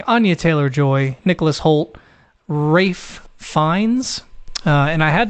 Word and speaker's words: Ralph: believe he pronounces it Rafe or Rife no Rafe yeah uh like Ray F finds um that's the